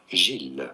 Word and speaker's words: Gilles: and often mispronounced names in French it is actually said as Jill so bergsonism by Jill